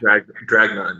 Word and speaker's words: Dragnun: Gathering of None, Blitzkid, and I hope I pronounced this new band's name correct. Dragnun? Is that correct? Dragnun, yeah.